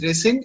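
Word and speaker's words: rescind: yes sir it's called resend okay okay it's pronounced as resend and it means cancel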